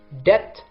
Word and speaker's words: debt: which letter is silent debt or depth do I say death or death so which one is correct here is it being all tea very good the silent letter is B so the correct pronunciation